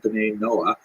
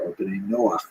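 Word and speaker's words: בני נח: basically a Hebrew term, B'nai Noah, or B'nai Noach is the way Jews would pronounce it, that refers to all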